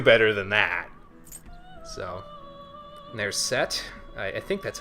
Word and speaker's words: Seth: than that so there's set I think that's how you pronounce it anyway it's like Egyptian myth you don't pronounce the H you pronounce the T like a hard T so yeah yeah alice